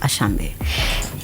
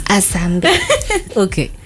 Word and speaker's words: Asambe: Asambe, or is it Ashambe? It's Asambe.